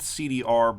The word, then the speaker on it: cdr: It's spelled CDR, but you pronounce it cdr.